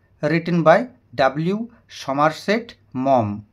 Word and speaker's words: Maugham: বাই ডব্লিউ সমার সেট মম উচ্চারণটি ভালো করে দেখে নাও এম এ ইউ জি এইচ এম উচ্চারণটি হচ্ছে মম তো এই হচ্ছে মমের